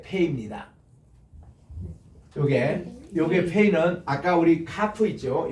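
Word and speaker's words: פא: 요게 페이는 아까 우리 카프 있죠?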